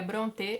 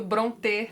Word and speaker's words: Brontë: o sobrenome desta família presta atenção na pronúncia correta hein bron bron bron Hum mas tudo bem acho que eles não vão se importar se a gente seguir dizendo Bronte matar agora a gente